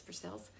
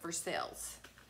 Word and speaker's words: Versailles: their side but it's for sales and they were like what I was like it's Kentucky version of Versailles okay it's like for sale but for sales and so that's how we say it like Louisville it's not